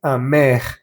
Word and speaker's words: amer: Hay que pronunciar bien la E y la R.